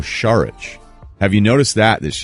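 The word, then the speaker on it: Šarić: it's marcin I believe Dario Sarich is now Dario sharukh have you noticed that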